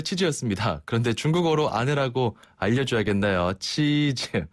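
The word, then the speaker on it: 妻子: 치즈라고 해요. 치즈요? 치즈. 네, 먹는 치즈랑 발음이 똑같아요. 사진 찍을 때 치즈 하듯이.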